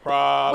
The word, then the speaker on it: praline: Praline. Is this how they say it in Pensacola? We say everything different in Pensacola. Okay, well, if you work here, you have to say praline.